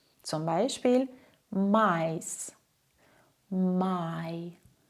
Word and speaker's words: Mais: Der Laut I klingt ungefähr wie das englische Wort Ei. Zum Beispiel Mais, My, Hi.